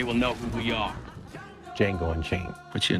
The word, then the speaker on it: Django: Django Unchained. What's your name? Django. D-J-A-N-G-O. The D is silent.